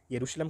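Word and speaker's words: Jerusalem: इसके अलावा sorry currency है, और राजधानी की बात करें तो राजधानी है यरूशलम कहते हैं, जेरूशलम कह लीजिए, जिस मर्जी तरह से आप प्रोनाउंस कर सकते हैं इसको, ठीक है।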